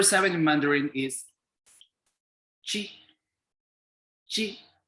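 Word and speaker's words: qi: in mandarin is chi chi it is spelled as q i but we pronounce it as chi following the rules of ch sound we read it as chi na ki ki is a wrong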